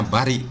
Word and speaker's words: Bali: Hai, watashi wa Bali e ikitai desu. Oke, Bali ya. Kalau dibaca orang Jepang membacanya Bari gitu ya. Tidak ada huruf L.